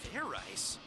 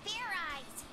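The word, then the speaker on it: Fairize: Fair rice? Is that sort of like fried rice? Idiot. It's pronounced Fair Eyes. There's no ice in it.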